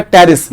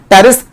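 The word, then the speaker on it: Pteris: अब टेरिडोफाइटा के भी बहुत सारे एग्जांपल्स हैं, मैंने जो एग्जांपल यहां पर लिखा हुआ है उसका नाम है टेरिस, यहां पर पी साइलेंट रहेगा, टेरिस।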